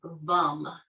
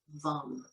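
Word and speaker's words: वं: or seed mantra associated with it and it's vum spelled v a m but pronounced as though or a short u vum for the next couple of minutes if you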